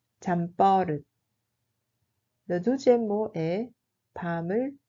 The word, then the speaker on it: 잠버릇: 잠버릇 se prononce comme 잠버릇. 잠버릇.